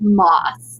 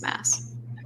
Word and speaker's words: Maas: some comments on TikTok saying like it's Moss, like you're not saying it right, and I'm like, no, I'm like very sure that it's Mass. In interviews and stuff, that's how she pronounces her name is Maas.